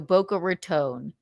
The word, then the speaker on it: Boca Raton: Is it Rton or is it Raton? Bo. This is why this is why I didn't know what to say. I didn't know how to say it until somebody said tone like I don't like your tone, Missy. Yeah. So, Boca Ratone.